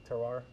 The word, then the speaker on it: terroir: Terroir?